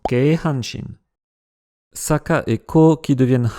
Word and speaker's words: Keihanshin: des trois villes, et il se prononce donc naturellement Kyosaka-ko... Non, je plaisante, Keihanshin.